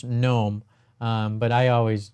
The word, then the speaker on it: GNOME: chat and also have it I always say gome sorry um I'll post the link here into